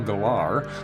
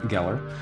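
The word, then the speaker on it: Gellar: show saring Sarah Michelle gar and um or Geller Geller which is the correct pronunciation uh or pronunciation pronunciation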